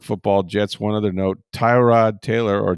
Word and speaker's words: Tyrod Taylor: One other note, Tyrod Taylor or Terrod Taylor as Baker Mayfield says it should be pronounced.